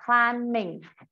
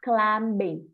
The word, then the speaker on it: climbing: Chính vì vậy mà khi mình thêm chữ in thì mình đọc là climbing, not climbing, được chưa? Chữ âm B của chữ climb bị cầm, người ta không nói cái chữ đó.